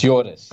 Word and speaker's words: Joris: It's Joris, yeah. Joris, Joris. okay. Joris. Welcome. Apologies for the Dutch name, it's unpronounceable.